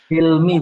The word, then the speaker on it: Hilmi: Jadi coba tadi saya ulangi, Mas Hilmi, Cilmi apa Hilmi itu bacanya? Hilmi, Bapak. Oh, Hilmi ya, hak ya itu ya.